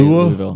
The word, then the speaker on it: Louisville: Louisville. It's not Louis. Louisville. Louis is. But that's how it's spelled, though. Louis is Louis or No, Louis. that's That's how also it's true. spelled, but it's how it's pronounced.